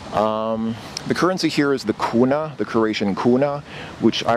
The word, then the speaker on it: kuna: So the way that I remember the name kuna is it rhymes with Luna, and Luna, of course,